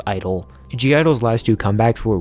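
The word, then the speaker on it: I-DLE: say G at all I know it's supposed to be pronounced Idol giardo's last two comebacks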